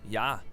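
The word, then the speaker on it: já: hello in Icelandic is pronounced Hollow thank you is talk yes is yeah no is nay goodbye is bless bless 14.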